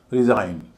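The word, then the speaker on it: resign: Pronounce प्र हल्का है। नाउंस भारी है। रिजाइन री हल्का है।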